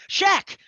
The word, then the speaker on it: Schaech: really interesting life uh jonathan heck shaq rhymes with heck what the heck he is not in